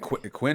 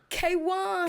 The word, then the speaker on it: KWN: And Quinn, is that how you pronounce it? KWN. K1. K1.